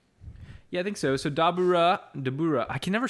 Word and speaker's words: Dabura: So Dabura. I can never say it like they do in the show. In the show, they say Dabura, right?